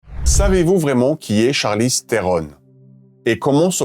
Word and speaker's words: Charlize Theron: How do you actually pronounce your name? Charlize Theron. That's so much sexier. Say that again. Charlize Theron.